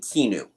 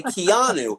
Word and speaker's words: Keanu: grew up with constantly is pronouncing Keanu Reeves name wrong saying kinu and he kept correcting us when we say Keanu I saw it like spelled phonetically in Rolling